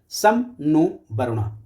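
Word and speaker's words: शं नो वरुणः: सम नो वरुणा। सम नो वरुणा। उसका pronunciation कुछ ऐसा है सम नो वर्णा व्हिच मीन्स जिसका मतलब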